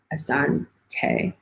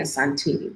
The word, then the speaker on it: asante: practicing saying it right asan tay it's just i've been saying a santee this entire time but asante sana it's